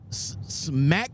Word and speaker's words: Smacc: of the company is smack Freight Freight smack the name of this company again next right she said it right the first time smack Freight right yeah